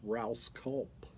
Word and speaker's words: Rouse Culp: Man, Roscoe kind of gives me cringes when I hear that name, because growing up, my last name is Rouse Culp. Rhymes with mouse and gulp, but a lot of people can't say it.